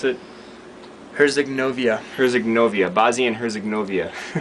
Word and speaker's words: Herzegovina: to Bosnia and Herzegovina, or how do you pronounce it? Herzegovina.